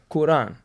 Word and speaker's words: Quran: How am I pronounce Quran? Quran.